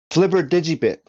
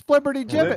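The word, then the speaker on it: flibbertigibbet: Flibber Digibit. That's what it is. What? Not the correct think that's how you- pronunciation. It's Flibberty Gibbet.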